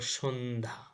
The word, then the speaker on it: সন্ধ্যা: শব্দের মধ্যে বা শেষে যুক্ত ব্যঞ্জনের সঙ্গে জ ফলা এর কোন উচ্চারণ হয় না কি বলছে কিন্তু শব্দের মধ্যে বা শেষে যুক্ত ব্যঞ্জন শব্দের মধ্যে বা শেষে সেটা আবার কি হতে হবে যুক্ত ব্যঞ্জন হতে হবে হলে সেটা কি হয় না জ ফলা এর উচ্চারণ হয় না। যেমন হলো সন্ধ্যা। দেখো সন্ধ্যার জফলা শেষে আছে কিন্তু সাথে আবার কি আছে? একটা আকার আছে।